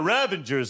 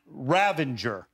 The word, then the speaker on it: Ravager: says, and now the Ravagers and the Ravagers and the Ravagers. And then finally I went up to him and I said, Sly, really, we got to say it right. It's Ravager, not Ravenger.